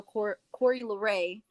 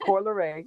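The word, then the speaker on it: Coi Leray: And they're just like, oh, yeah, I like how Corey LeRae, sorry, I'm more like pronouncing her name wrong, but It's pronounced Corleray. It's pronounced Corey Corleray.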